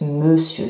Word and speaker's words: monsieur: monsieur alors ça s'écrit monthieu mais ça se prononce monsieur c'est pour ça que c'est un petit peu